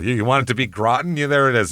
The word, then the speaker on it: Groton: It's Groten, Massachusetts. So I or Graten, however you want to say it's I know it's Groten, but I don't know